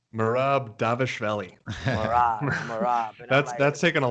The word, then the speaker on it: Merab Dvalishvili: How do you pronounce his name? Merab Dvalishvili.